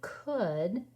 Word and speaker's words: could: Do you remember how to spell that word could? And it rhymes with would, which we had earlier. We're just changing one letter. It's a hard. We don't hear those letters in the middle.